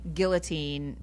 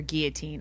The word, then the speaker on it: guillotine: only one pronunciation but I think guillotine or guillotine I think either ways yeah I think my Twitter's